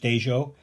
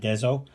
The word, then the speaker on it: Dezo: And yes, it is pronounced Dejo, not Dezo.